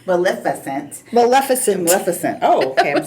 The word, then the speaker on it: Maleficent: Ka and then we have Harris Dickinson from Melissa that name Maleficent Maleficent Maleficent oh okay I'm saying it wrong anyway um